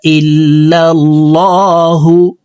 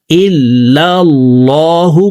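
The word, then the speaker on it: إِلَّا ٱللَّٰهُ: ইলাহা আশহাদু আল্লা ইলাহা ইল্লাল্লাহু ইল্লাল্লাহু বলা যাবে না ইল্লাল্লাহু পড়তে হবে আল্লাহ শব্দের আগের হারফে জবর আছে আশহাদু আল্লা ইলাহা ইল্লাল্লাহু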